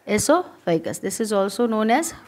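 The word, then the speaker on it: oesophagus: अब यहाँ पर हो गया माउथ, एसोफेगस, इसमें ओ साइलेंट रहता है इसलिए ओसोफेगस मत पढ़ना, एसोफेगस।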